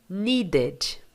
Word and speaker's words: needed: Então, aqui, dessa forma, ele vai estar sendo falado como needed. Normal. Needed. Pronuncia o ED no final.